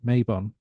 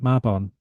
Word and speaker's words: Mabon: popular name I mean a lot of Americans pronounce it Mayon um so if you can have a go at pronouncing it maon you already tiny bit more authentic now we have to